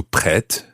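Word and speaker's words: prête: french words pre but in the feminine form the t sounds because there's an e at the end p r e circumflex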